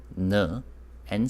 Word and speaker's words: 나: Consonants. Nin, n, and sound with the vowel a. So that becomes na.